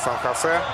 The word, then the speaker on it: Сан-Хосе: А нам повторяют, второе ударение будет у Сан-Хосе.